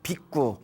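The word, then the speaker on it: bhikkhu: 깎고 출가하신 스님을 우리가 비구라고 부릅니다 뭐라고 부른다 비구 비구라고 불러요 저쪽 이제 원래 발음을 비꾸라고 한다고 합니다 빗구 뭐라고요 발음 잘 해야 돼요이 빛구의 뜻이 걸식하는 자란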